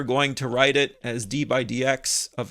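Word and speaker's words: d/dx: We pronounce it d by dx.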